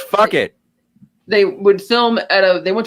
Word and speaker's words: Phuket: When they went to film in near Phuket for the It's pronounced fuck it.